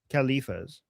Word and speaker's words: Khalifa: So after Muhammad died uh we had four khalifs khalifas khalif how do you say it in English? Khalifa okay so they're the rightly guided ones that sunnis believe agree with right.